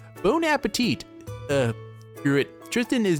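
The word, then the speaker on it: bon appétit: also partake in battles Bon aate oh gosh I pronounced that wrong bone bone Appetit uh SC It Tristan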